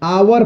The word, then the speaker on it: hour: आवर पढ़ते हैं, लेकिन HOUR को बहुत लोग हावर कह देगा। तो हावर कहेगा तो गलत वहां पर आर्टिकल यूज होगी ना, इसीलिए शुद्ध इसका उच्चारण आवर होता है।